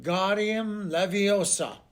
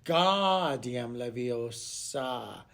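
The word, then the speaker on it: Wingardium Leviosa: arms like a windmill you are saying it wrong harry heard hermione snap it's when god diem leviosa make the gar nice and long you do it then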